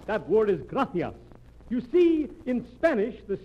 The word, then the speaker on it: gracias: okay muchas gracias amigo no no no not gracious that word is gracias you see in Spanish the see is pronounced th graffia you see th your mind